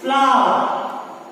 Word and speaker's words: flower: So R, we can see here R, but we do not have to pronounce it. We have to speak like flower, fire, not fire.